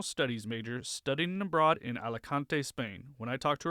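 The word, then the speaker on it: Alicante: I think that I'm not gonna I'm probably not gonna pronounce this right. Is it Alakante Spain? Yes. Yes. That that is right. It is Alakante, Spain.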